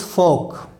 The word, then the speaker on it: folk: So, mind it, the pronunciation of folk is folk, and the pronunciation of memoir is memoir.